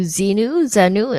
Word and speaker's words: Xenu: Can you tell us about your book, From A to Xenu? Am I pronouncing it right?